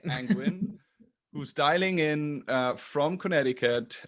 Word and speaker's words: Angwin: Welcome to another episode of TOA On Air, and today I'm joined by Julia Angwin. Do I pronounce this name correctly? Yes, that's right. It sounds like penguin, penguin. Angwin, who's dialing in from